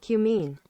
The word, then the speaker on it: cumene: Cubine? What is it? What was it again? What was it? Cumene.